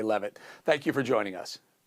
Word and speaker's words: Leavitt: Is it Leavitt or Leavitt? How do you pronounce it?